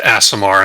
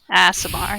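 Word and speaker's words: Aasimar: meridian response why do i know that it's pronounced asamar and they're like godly beings asimar yes all right a lot of stress on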